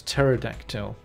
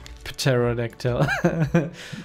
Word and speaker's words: pterodactyl: pterodactyl tear reduction yeah you don't say the P it's the P is silent so it's pterodactyl but when I was